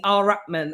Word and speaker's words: Ar-Rahmaan: beautiful, the wonderful Lettie Ar-Rahmaan. And we are laughing because she told me how to pronounce her name. And she said, just remember, all right, man.